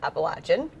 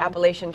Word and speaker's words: Appalachian: so good you know the proper pronunciation of appalachian it's so funny when it comes across the news sometimes and you hear someone read it wrong appalachian trail grits and or